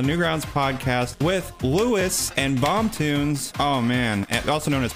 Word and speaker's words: BomToons: Is it BomToons? Is that how you say it? I was going to ask you that. Yeah, that sounds good. Is it not? I mean, that's how I've always said it.